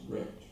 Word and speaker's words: RECD: really existing capitalist democracy, RECD, pronounced wrecked for short.